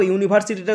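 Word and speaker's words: university: কারণ ইউ এর উচ্চারণ এখানে ইউ এর মতোই হয়েছে। ইউ এর উচ্চারণ কার মতো হয়েছে? ইউ এর উচ্চারণ ইউ এর মতো হয়েছে, তাই এখানে বসলো এ ইউনিভার্সিটি।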